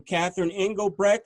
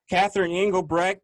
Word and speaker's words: Catherine Engelbrecht: First, I want to welcome Catherine Engelbrecht. Am I saying it correctly? Yes. Catherine Engelbrecht to the show.